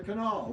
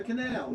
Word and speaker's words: canal: If it's fall and all, then it's the canal. If it's pal and gal, then it's the canal. You know, that's the difference. But the obviously the two pronunciations were used somewhat interchangeably.